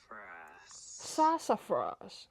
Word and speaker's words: Sassafras: Maybe because okay, let me have a look how to pronounce this. Sassafras. Sassafras.